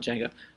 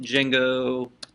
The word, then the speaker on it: Django: couple of utilities like oh it's not Jenga I think it's just jingo admin to get started yes